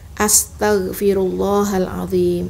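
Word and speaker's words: أستغفر الله العظيم: Firullah, fi, jangan pi. Ya. Rullahal azim, rullah tebal. Hal azim, yang benar. Jangan hal azim, hal. Tapi bacanya hala. Lalu zim, a-nya nggak dibaca. Ini pun salah. Dijaga ya. Lalu dijaga lagi, jangan sampai zi ini menjadi huruf yang lain. Jangan menjadi huruf jim.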